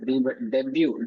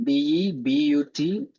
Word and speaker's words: debut: Uh T is silent.